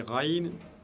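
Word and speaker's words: غين: Et vous avez Raïn, pareil, qui se prononce au même endroit.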